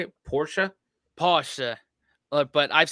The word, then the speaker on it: Porsche: I've heard Americans pronounce it Porsche or Porsche. In German, we say Porsche. So there is like this short A sound in the end.